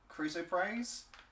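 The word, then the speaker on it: chrysoprase: uh can pronounce that cruo praise C HR y s o p r a s e basically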